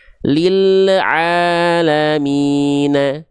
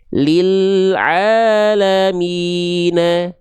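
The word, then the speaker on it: لِلْعَالَمِينَ: Jangan sampai teman-teman melafalkan lam sukunnya seperti ini ya. lil alamina lil alamina lil a lil a nah ada bunyi le le di sana tandanya lam teman-teman memantul ya enggak boleh memantul tapi lil alamina paham jangan sampai lil a tapi lil a lil alam ya.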